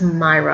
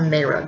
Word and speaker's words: Mayra: Everybody says Myra. I'm going to call her Mayra because that's the way it looks like it's spelled to me.